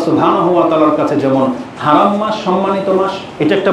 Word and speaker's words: হারাম: কোরআনে কিন্তু হেরেম শরীফ নেই, বাইতুল্লাহিল হারাম আছে, হারাম শব্দটা, কিন্তু তারা হারাম উচ্চারণ করতে চাই না, মানে তাদের জবান দিয়ে হারাম উচ্চারণটা হয়ই না, হেরেম বলে।